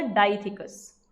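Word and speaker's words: dithecous: तो इसको यहाँ पे क्या प्रोनाउंस किया जाएगा, ऐसा डाइथिकस, डाइथिकस। तो ये इसी की बोल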